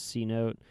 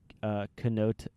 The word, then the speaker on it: Cenote: I thought it was C-Note. It's spelled Cenote. White boy. Yeah, so it's Cenote.